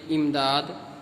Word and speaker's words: امداد: پڑھیں۔ اس کو آپ پہلے یاد کر لیجئے، امداد جستجو، یہ صحیح تلفظ ہے، امداد جستجو، صاحب عاجز، عز و